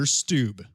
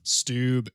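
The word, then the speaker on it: Stubbe: names at least um his last name is spelled in many ways but i will be calling him peter stoob stoob stubb s-t-u-b-b-e oh it just makes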